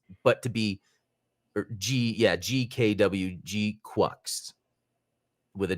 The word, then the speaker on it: GQuuuuuux: Depending on the it was mainly pronounced G-Quux, but sometimes it was pronounced differently depending on where it was in the sentence or how it was used.